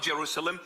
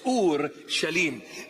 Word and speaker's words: Ur Shalim: This is the proper pronunciation of the word. It's not Jerusalem, it's Ur Shalim.